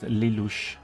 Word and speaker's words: Lelouch: It's pronounced Lelouch.